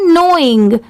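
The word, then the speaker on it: knowing: ये है नोइंग, यहाँ पर NOWING सिर्फ इतने की साउंड आ रही है, मतलब सिर्फ इतना ही प्रोनाउंस किया जाता है, बट लिखते टाइम के भी ऐड करते हैं। यहाँ पर प्रोनाउंस करते टाइम लेटर के साइलेंट होता है।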